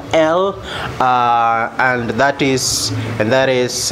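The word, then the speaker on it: lugha: so uh so g g is not pronounced it's not pronounced so we say luha so g is silent letter g is silent so luha means language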